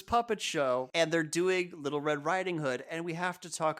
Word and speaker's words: Little Red Riding Hood: who's listening there it's little red riding hood the emphasis is on the riding hood the hood it's it's